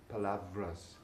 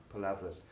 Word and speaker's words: palabras: Palabras, words, although it ends with B-R-A-S, is pronounced vras. Palavras. Palavras.